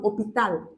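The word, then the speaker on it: hôpital: also has to take L but for example opal I didn't say you see I'm not pronouncing this your known H I said oh I'm starting from this voice this is second op Sorry minute.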